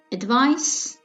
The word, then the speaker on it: advice: The first pair of words is advice and advise. Do you hear the difference in pronunciation between these two words? The difference is in the final consonant s and z.